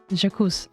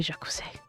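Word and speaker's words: Jacques: some kind of Justice jakus Aus jakus the E is silent think it should be jacuz jauz man second let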